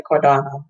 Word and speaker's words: Cardano: it right but again i just see all the a's right and i just like to say cardinal i know most people say cordano right um and so